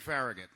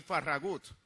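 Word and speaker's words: Farragut: the first full an United States Navy David faragate or more accurately pronounced David faragut whose biological father was one of those Spanish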